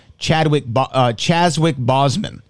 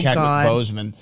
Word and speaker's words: Chadwick Boseman: For me, his best mispronunciation, and rest in peace to the late great in JTE's mind, Chazwick Boseman, I think is what he said for Chadwick Boseman.